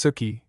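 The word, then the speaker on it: souchy: Water souchi commonly pronounced suki is a Dutch soup.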